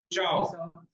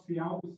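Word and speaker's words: ciao: चाओ नहीं, एक्चुअली इसमें कोई आप अगर प्रोनाउंसिएशन रूल इसमें लगाना चाह रहे हो तो इसको आप सियाओ बोल दो, ठीक है।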